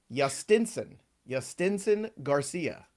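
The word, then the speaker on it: Jhostynxon Garcia: I know how to pronounce his name now. All right. Here we go. Justinson Garcia.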